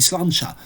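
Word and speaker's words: sláinte: Ça s'écrit slainte, mais ça se dit slancha en fait.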